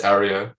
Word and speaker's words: Aryo: Yeah, you did a good job actually. Most people stumble even worse. So it's Ario, yeah.